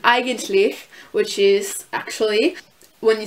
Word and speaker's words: eigentlich: And then there's EI, which makes the I sound, so like an eigentlich, which is actually, when